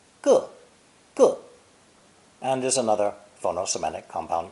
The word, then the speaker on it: 个: It's pronounced fourth tone, 个, and is another phono-semantic compound character.